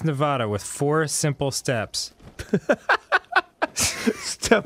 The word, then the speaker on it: Nevada: the head yeah yeah pronounce it so that the middle part rhymes with ad the ad sound in the word sad I don't believe that